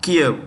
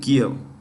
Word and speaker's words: Kyiv: Kiev. KYIV. Kiev.